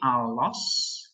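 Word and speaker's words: ἄλλος: Sebagai contoh, dalam classical Greek ada kata allos, ini bacanya nanti allos, yang artinya yang lain.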